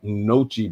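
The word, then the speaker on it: gnocchi: Have you guys had Nochi before? That G is silent, if I'm not mistaken.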